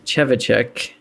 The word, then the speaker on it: Trzewiczek: So I'm pretty sure I'm remembering the correct pronunciation that they show at the end. Trzewiczek.